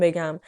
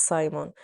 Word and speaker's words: Simon: So don't think that I am illiterate because I am going to say this name Simon, not Simon, because the French call it Simon.